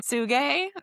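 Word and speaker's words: Tsuge: Suge, is that how we Yeah. say his name? Yeah. Suge.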